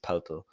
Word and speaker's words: Poeltl: And I went and watched a German interview, Austrian TV interview, and that's how they pronounce it, Poeltl. Not Could have told them to Pirtle.